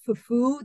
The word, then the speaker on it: fufu: And again, that some of the times you can hear in West African languages, fufu, the accent is on the U part.